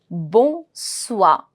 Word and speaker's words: bonsoir: That is the pronunciation of OI is going to be ua. Ua, ua. When I put S with it, bonsoir. Bonsoir, bonsoir. And R, CLFR, CLFR is to be pronounced.